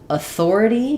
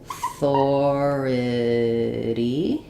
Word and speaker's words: authority: a sound in authority because the stress is on the thor this actually becomes just an h sound. It's just a schwah. So authority and this is a flap t like we were talking about at the beginning. It sounds more like a d.